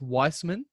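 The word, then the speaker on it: Wiseman: liked the sparks from james weissman it's it's pronounced weissman um he looks good he's like yeah for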